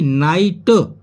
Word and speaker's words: night: तो डिलाइट, डिलाइट means होता है आनंद, जैसे कि नाइट, NIGHT, परंतु NIT ऐसा लगता है जैसे कि NIT की आवाज आ रही है, नाइट।